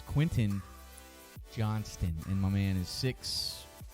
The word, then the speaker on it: Quentin Johnston: you say his name Don't Call Him Quinn and Johnson okay someone will freak out it's Quentin Johnston and my man is